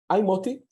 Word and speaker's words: Moti: So I'm Moti. I usually say my name is just like motivation without the vation, easier to remember it this way.